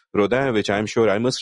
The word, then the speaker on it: Rodin: therefore you know if someone says Rodin instead of Roda which I'm sure I